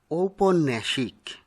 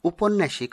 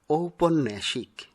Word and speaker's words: ঔপন্যাসিক: এবারে দেখছি যে শব্দটি তার সঠিক উচ্চারণ ঔপন্যাসিক। অনেকেই উপন্যাসিক উচ্চারণ করে থাকেন, যা অশুদ্ধ। শুদ্ধ উচ্চারণ হবে ঔপন্যাসিক। পরের শব্দটি অনেকেই হীন বুদ্ধি এরূপ উচ্চারণ করে থাকেন, কিন্তু সঠিক উচ্চারণ হবে হীনবুদ্ধি।